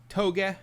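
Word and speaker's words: Tōge: The E it depends how you're romanizing it, but the E in Japanese romanized to English is usually e.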